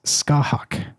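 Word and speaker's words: Scáthach: c a t h a c and the pronunciation is skah hawk. Okay, as far as I could tell that's according to a pronunciation expert on the interwebs, skahawk, but I don't know if that's accurate but anyway.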